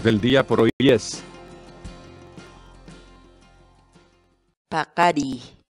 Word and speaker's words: paqariy: de videos en la que te enseñamos a pronunciar algunas palabras en quechua. Así que nuestra palabra del día por hoy es Paqari, paqari, paqari, la palabra quechua.